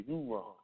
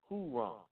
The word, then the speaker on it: Huron: They pronounced the name as Heran in French which gradually was known as Hyron and finally spelled in its present form Huron.